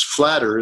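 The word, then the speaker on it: Fläder: of Norway called flatter Fla D er with the two dots above the B I think they call it or whatever anyways that I can't remember what that's called but it's flatter is the pronunciation for it and that's an elderflower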